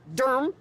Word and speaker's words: Durham: We are in Durham, D-U-R-M, as they pronounce it here.